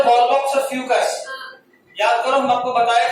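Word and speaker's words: Fucus: चलो आगे, oogamous का एग्जांपल है वॉलबॉक्स और फ्यूकस। याद करो हम आपको बताए थे फ्यूकस और फाइकस जब मॉर्फोलॉजी पढ़ रहे थे।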